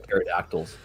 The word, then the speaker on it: pterodactyl: I'm looking forward to seeing all the pterodactyls. Yes, because they're literally just flying away, and I'm like, oh my god. You don't pronounce it. It's pterodactyl. Don't.